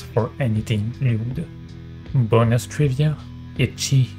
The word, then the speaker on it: ecchi: Bonus trivia, ecchi is the Japanese pronunciation of the letter H that comes from the first letter of hentai, which in this context mean sexual perversion or pervert.